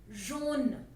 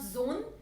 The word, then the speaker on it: jaune: ठीक है, j के नीचे मैंने छोटा सा एक श लगाया है, which shows the pronunciation j, as in measure, measure, j, jaune. So it's not jaune, it's not zone, it's jaune, j with a little sh sound, jaune.